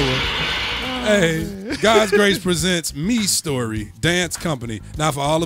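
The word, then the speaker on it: Mistory: say this every week, it looks like it's pronounced Mystery or My Story, M-I-S-T-O-R-Y, but I've been corrected for the last 3 weeks, so it is Me Story, so don't think I can't read.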